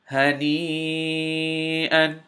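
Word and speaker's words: هَنِيئًا: Ha fatha ha, noon kasra ya mad ni, hani, hamza fathatan an, hani'an.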